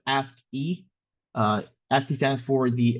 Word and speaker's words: ASCII: intro to ask values pronounce ask e uh ask stands for